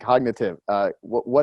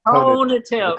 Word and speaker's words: conative: Like, what's the difference between cognitive and cognitive? Joe, God love you. I've known you for so many years and you still don't say it right. It's I know. Conative.